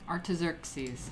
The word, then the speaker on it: Artaxerxes: Pronunciation. Artaxerxes. Artaxerxes.